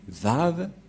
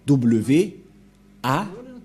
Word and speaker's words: Vav: Et ces termes se prononcent selon eux en W, A, H. C'est pourquoi les gens disent Wa. Mais en fait, ce n'est pas Wa la vraie prononciation, mais Va pour les Juifs.